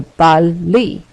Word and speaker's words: balli: And the new ending I need to add in the tu form is the letter I, which is pronounced E. So balli.